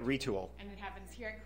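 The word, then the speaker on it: Retül: It's 3D motion capture technology right here in Traverse City, and it's called Retul. Yes. I'm saying it right. You are saying it right. Retul.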